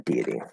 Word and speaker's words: deity: e it does say now if i try to say with a schwa deity deity deity yeah if i do this why it also sounds fine no problem so it doesn't matter you could say with a schwa if you want um but deity deity